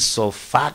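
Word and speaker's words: Ein Sof: que los rabinos, oiga, le llaman Ain Sof, ¿verdad? Incluso yo le investigué, otros le ponen sofá con acento en la A, sofá, y bueno, le ponen un montón de maneras a esto, pero esto quiere decir,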